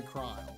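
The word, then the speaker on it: Krile: I thought it was like Creel. It's or Kryl. Oh, there's a character named Kryl in Final Fantasy 14, and they say Kryl.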